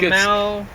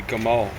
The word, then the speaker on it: Jamal: Most of the places where they originally had a G, they pronounce it like a J. Oh. So Jamal, that's a classic first name. It's really in the original it'd be Gamal.